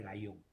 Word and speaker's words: Guyon: Ahora, el método de Gallón. El método Guyon se escribe.